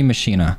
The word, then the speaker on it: Maschine: Let's start off with the Maschine.